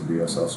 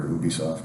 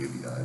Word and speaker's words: Ubisoft: the Atari Jaguar, and I started calling them UBI then because I'd never heard it pronounced. And so if you hear me say Ubisoft, that's why.